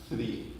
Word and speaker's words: three: to say is English you say one two three some people say one two three and it's